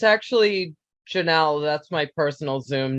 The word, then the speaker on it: Janelle: And I'm just curious, and I believe it's pronounced Janelli, if I'm not mistaken.